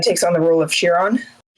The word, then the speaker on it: Chiron: Technically C H I R O N is supposed to be pronounced Chiron because it's Greek.